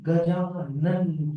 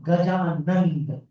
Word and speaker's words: Gajanan: So let's be careful about our pronunciation. Right? When Acharya Ji also says, Boliye Ganapati Gajanan ki jai. It's Gajanan, not Gajanand.